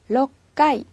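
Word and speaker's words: 六階: 2 상가 2 이렇게 주시구요 그 다음에 6층은 러 까이 러 까이 초기 했네요 그 다음에 마지막으로 10층 은요 6가 있 뉴 까이 이렇게 발음을 해 주시면 돼요 자 이 부분은 우리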